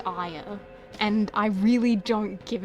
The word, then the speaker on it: Aya: But that assumes that you're pronouncing my name Aya. Which I guess you guys all do. You all pronounce my name Aya. Technically, the way I've been pronouncing it my entire life is Aya. Aya is how you meant to pronounce it. Aya is how it's pronounced, Japanese. Because it's, usually a Japanese name. But, my dad named me after a video game character. So my name is Aya.